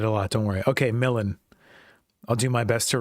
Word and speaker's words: Millen: Yeah, so it's pronounced Millen, by the way. I get it a lot, don't worry. Okay, Millen.